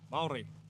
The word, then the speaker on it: Māori: Maori.